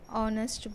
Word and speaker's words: honest: In the following words, H is silent, but it begins with the vowel sound, so we have to use an. Examples: an ire, an hour, an honest boy, an honor.